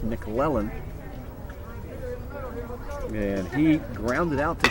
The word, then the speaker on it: McClellan: just a little bit these people just naturally seen McClellan but it's nickel Ellen and he grounded out